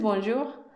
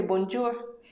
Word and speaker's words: bonjour: La maestra me dijo, desde que dices bonjour, la gente ya sabe que eres extranjera. Porque no se dice bonjour, se dice bonjour.